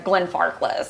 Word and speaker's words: Glenfarclas: they can't pronounce Auchentoshan or Lagavulin or Glenfarclas.